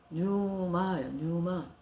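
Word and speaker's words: πνεῦμα: 그래서 예수님은 지금 말씀 우리하고 공기와 같이 성령이 헬라어로 뉴마 그게 이제 그 폐렴이 뉴모니아거든요. 폐에 염증이 생기잖아요. 감기가 심해지면 뉴모니아. 그 앞에 이제 피같이 생기는 것이 있는데 이게 묵음이요, 이게.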